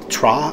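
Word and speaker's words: Ptra: In the fluff, it talks about the God of Light, Tra, I believe it's pronounced. It's P-T-R-A.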